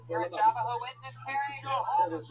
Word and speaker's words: Jehovah: Jehovah's Witness, not Javaho.